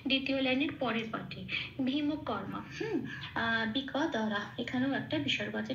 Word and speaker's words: বৃক: আচ্ছা বৃক দ্বারা হ, বৃকটা ব্রিটা যেমন আছে তেমন থাকবে,